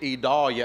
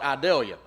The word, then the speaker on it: Idalia: and by the way that is videlia without the V so for this South Georgia country boy it took me a while to get ealia I even got it phonetically wrote out right here so I wouldn't say it wrong cuz I want to call it idelia cuz that's the way it looks to me so if